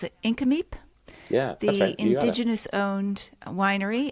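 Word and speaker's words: Nk'Mip: at um I always have a hard time pronounce it inam yeah the indigenous owned Winery and there's also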